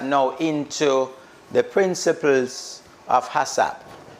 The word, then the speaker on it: HACCP: HACCP, pronounced HACCP, right, is a food safety system that prevents disasters such as foodborne illnesses outbreak, right, from occurring.